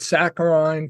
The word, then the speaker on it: saccharine: acronym so instead he called it saccharine to rhyme with wine so as to be